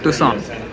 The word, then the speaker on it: Tucson: और वो जो जगह जा रहे हैं, सुरभि ने प्रोनाउंस किया था करेक्टली, उस क्या बोलते हैं, टुसॉन, जिसकी स्पेलिंग एक्चुअली टक्सॉन है, बट टुस्कॉन है।